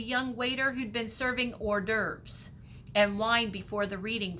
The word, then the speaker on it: hors d'oeuvres: at the bottom and it looks really awkward um in how you would pronounce it it looks like horse day oops okay so it's hors d'oeuvres and it's fancy party